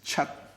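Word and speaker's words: 七: just look seven is Chuck I cross out the T so that you don't pronounce the T H is part and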